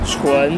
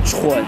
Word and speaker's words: 纯: 是纯不是蠢哦，发音要清楚。